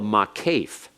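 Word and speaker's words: maqqeph: And in this case, that line up there between the two words, what we call the makef.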